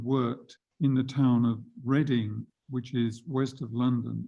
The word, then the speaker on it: Reading: And the interesting thing is that Valentin Tomberg had lived and worked in the town of Reading, which is west of London. It's spelt Reading, but it's pronounced Reading.